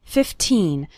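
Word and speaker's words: fifteen: 15 minutes a day remember to pronounce the second syllable of 15 nice and strong 15 not like 50 which is a different number 15 minutes a day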